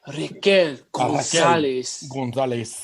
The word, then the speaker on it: Raquel Gonzalez: I'm Spanish. Why did I say it like that? You got to say it, Raquel Gonzalez.